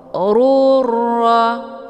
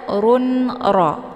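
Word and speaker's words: غفور رحيم: Cara bacanya, harakat tanwinnya dimasukkan ke dalam huruf ra dengan cara ditekan dan masuknya adalah kamil secara sempurna tanpa tersisa bunyi tanwin. Ruro jangan dibaca run ro itu bacaan salah.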